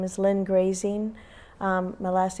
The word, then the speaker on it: Graesing: to me on Facebook my name is ly grazing um my last name is spelled g r a s i n g